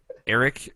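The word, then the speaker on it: Eirik: I think it's it's pronounced Eric uh just to but it's spelled weird.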